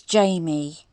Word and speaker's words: Jayme: And AD continually got her name wrong. Her name is Jayme.